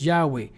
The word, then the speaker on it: Yahweh: Gramatan should be pronounced Yahweh Greek transcriptions also indicated that Yahweh should be should be pronounced or that the touch of grandchild should be pronounced Yahweh exactly Peter Botanica the